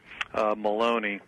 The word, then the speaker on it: Maloney: is from New York Carolyn Maloney rhymes with baloney she she called officially